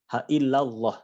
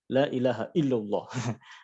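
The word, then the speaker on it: لا إله إلا الله: bisa disebut Allah Allah jadi bukan allah' ya apalagi Allah haillallah jadi bukan haillallah haillallah lailahailallah lailahailallah like Nah jadi kalau yang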